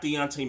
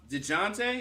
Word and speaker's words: Dejounte: They got Dejounte Murray.